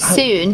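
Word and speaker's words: Sŵn: How do you Soon, yeah. Soon. Is that how you say it? It means sound in Welsh.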